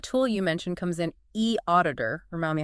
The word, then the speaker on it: eAuditor: E auditor. Remind me how to say it. E auditor. That's E e auditor. P pronounced e auditor.